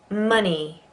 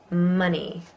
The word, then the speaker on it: money: Money. Money. Again, it's an O, but it's pronounced Wonder.